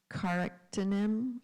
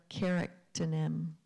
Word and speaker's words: charactonym: It can be pronounced charactonym or charactonym.